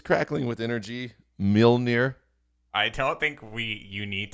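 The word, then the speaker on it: Mjölnir: Wait, can you pronounce that for me again? Miranor. Miranor? Miranor. Yeah, Thor's hammer, bro. Mjolnir? Mjolnir. Have I been saying it wrong?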